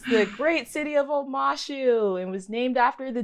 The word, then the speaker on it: Omashu: say it yes it's the great city of omashu it was named after the two lovers I